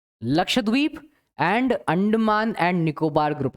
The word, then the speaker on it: लक्षद्वीप: एक तो बहुत बार मैंने देखा है बच्चे प्रोनाउंसिएशन ठीक नहीं करते हैं, लक्षद्वीप कहते हैं. लक्षद्वीप नहीं है, इट्स लक्षद्वीप.